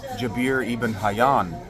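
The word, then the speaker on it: Jabir ibn Hayyan: Ian what's his name jabir Ian hayan I believe is how it's pronounced was a gibbering lunatic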